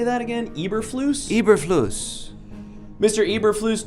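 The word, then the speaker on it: Eberflus: the record hello judge my name is Matt ibris Lewis I am the current head coach of the Chicago Bears oh no uh I mean uh sir uh Mr how do you say that again Eber flus Eber flus Mr Eber flus do you understand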